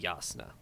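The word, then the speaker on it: Jasnah: with a Y so it's Yaakov ed and yasna I'll be honest that I like that better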